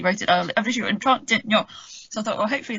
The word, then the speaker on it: Trintignant: If you take his name, say any three-letter words in a strong three-syllable word that begins with a T in a French accent, and end it with something that vaguely rhymes with filet mignon, Trintignant.